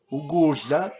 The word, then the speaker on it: ukudla: Then if we look at ukudla, ukudla is food. And here is an example, food, Ukudla. Remember the DL is not shla, as many whites pronounce it, but ja. Ukudla.